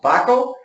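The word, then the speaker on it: Wakol: However, we've done an extensive research, and our top adhesive that we recommend is a German product named Wacol, spelled W-A-K-O-L, but pronounced Wacol.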